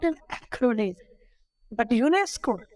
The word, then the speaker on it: UNESCO: not an included but UNESCO u-n-e-s-c-o but I am pronouncing it together so these type of